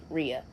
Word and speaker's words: Ria: I'm just one syllable. You Oh, know, that's funny. not gonna work. That's is funny. not gonna Rhea.